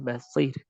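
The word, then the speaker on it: بَصِير: Contoh dalam kalimat khair. Dan ya madiyah contohnya adalah basir. Maka ra-nya dalam keadaan dibaca tipis. Sekali lagi, ra yang dalam keadaan sukun, kemudian dia waqaf.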